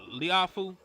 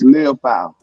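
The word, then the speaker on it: Liufau: And listen, how you say his name? Liafu? Maris Leofow. Leofow.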